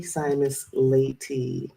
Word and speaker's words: Simas-Layte: to my good good dear dear friend simus laty hello hi did I say it right ly